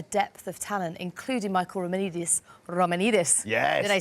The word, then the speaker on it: Romanidis: there's such a depth of talent, including Michael Romanidis.